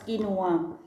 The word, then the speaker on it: quinoa: Ngayon tinatawag silang quinoa. Q-U-I-N-N-O-A. So, it's pronounced as quinoa.